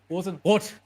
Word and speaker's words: Rosenrot: But basically, with the R and the T is usually problem is the T you can nearly pronounce the same. You just need to be harder and harsher on the pronunciation. Cut it. You try to draw it out, but cut it off. Basically, force yourself to cut it out.